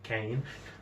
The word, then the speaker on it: Khaine: to the bloody-handed god, aka Cain. And if you're wondering how that's spelled, that's Khaine.